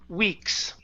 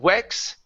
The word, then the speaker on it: weeks: The only one here is weeks. Okay, long E sound. Instead of wex, weeks.